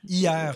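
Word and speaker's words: Hyères: Hier. C'est comme le mot hier? Oui, hier, ça s'écrit H-Y-E-R-E-S.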